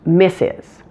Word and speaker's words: Mrs.: Wong or miss Hamilton now Mrs is pronounced missus that's not too hard just make miss plural missus make sure to pronounce the final s AZ sound though listen to this mrs. mrs. that final s has voicing on it here hmm Mrs Davies or mrs.